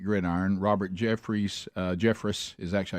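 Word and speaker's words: Jeffress: Robert Jeff, uh Jeffris is actually how you say his name out of Texas. I've called him Jeffre for years.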